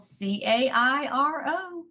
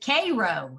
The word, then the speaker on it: Cairo: a city that's spelled c-a-i-r-o how do you think you would pronounce that right like egypt cairo they pronounce it k-ro here like syrup k-ro really yeah yeah there's